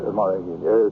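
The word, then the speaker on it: מלאכים: the holy ones, and how do you pronounce that? Malachim. Malachim. Thank you, Rabbi.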